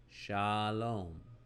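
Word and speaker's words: שָׁלוֹם: open syllable would be starting with the letter sheen and a kamatz underneath it, and that would give us sha. Sha. Shalom starts with sha. In yellow, we have the open syllable. And then we close the second syllable with a closing consonant to make lom. Lom. Shalom. Shalom. So we have the lamed,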